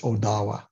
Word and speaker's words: Ottawa: the Three Fires is Odawa that's the proper pronunciation of Ottawa it's Odawa that's what that that's where the accent goes um so we're all